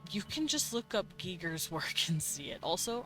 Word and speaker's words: Giger: Um, I used to say geer and then I looked it up and then it's German, so you pronounce it giger apparently.